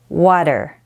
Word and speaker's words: water: spelled it is pronounced water so the T sounds more like a d but it's less distinct than d and a little faster so water and there's